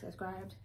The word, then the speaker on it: Scribd: And it's Scribd. I don't know. Scribd sounds stupid.